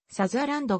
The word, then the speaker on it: サザーランド: 出身のソプラノ歌手なお生の発音は最初のさにイントネーションを置いたサザーランドが適切であるがここでは